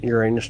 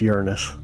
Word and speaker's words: Uranus: And by the way, it's pronounced Uranus, not Uranus.